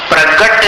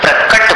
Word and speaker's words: प्रकट: क प्रगट नहीं बोलना, प्रकट बोलना। क कालूपुर वाला क।